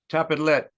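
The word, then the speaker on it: Tapadh leat: Tapidlet. Tapidlet. That's thank you. Tapidlet. Tapalet. Tapidlet.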